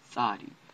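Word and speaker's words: Tsadi: This next letter here is Sadi. I'm saying it a bunch of times so you guys can hear all the pronunciations, especially this letter because when we were working on La Shagwan Kadesh, or many of the brothers and sisters, the Achim wa Achotiot, they turned this letter into Taza, and I commend their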